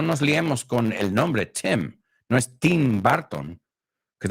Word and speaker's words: Tim: So, team, it's not team, it's Tim. Tim. Tim Burton, como si fuera una E.